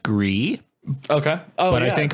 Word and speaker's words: Gris: people don't realize that that's gree as in French for gray so a lot of people keep reading it as Gris or Grizz and I didn't realize